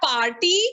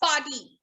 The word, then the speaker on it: party: It's not party, it's party. Okay? The R is almost silent over here.